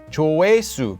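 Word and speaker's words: 조회수: views on a video it's just pronounced as chuwisu look it's just stuck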